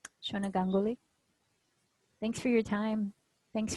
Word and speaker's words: Ganguly: was saying it right gangali gangali no gangoli thanks for your time